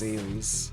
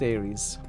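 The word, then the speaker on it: Ares: Well, not as in England, but you know, they probably pronounce their name themselves as Aries. Makes sense. We'll call it Aries.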